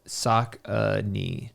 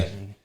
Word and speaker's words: Saucony: Saucony.